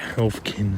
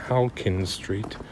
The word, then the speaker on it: Halkin Street: I might have mispronounced it and called it Halfkin and stuff at times, and Halfkin Street, but it's Halkin Street.